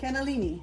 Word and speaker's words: cannellini: I like Or Great Northern for this cannoli. one. How do you say it? Cannellini.